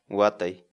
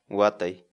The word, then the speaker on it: watay: série de vídeos onde nós ensinamos você a pronunciar determinadas palavras em Quechua. Portanto, a nossa palavra do dia para hoje é... Watai. Watai.